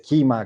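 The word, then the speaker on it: Kyma: poquito este este proyecto de kima que se pronuncia así por por SAP al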